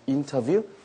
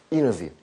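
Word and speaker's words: interview: 돼요 다시 한번 인터뷰인데 영어 발음에서 t 발음이 좀 약하게 되죠 그래서 인터뷰 이너뷰 이너비처럼 들리죠 근데 내가 좀 어설프다 그러면 그냥 인터뷰 하셔도 괜찮다는 겁니다 시작 계란이 아니고 인터뷰가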